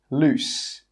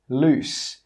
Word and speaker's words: loose: 'Loose' with two Os is pronounced 'loose'. Loose. That final S sound is just pronounced as an S.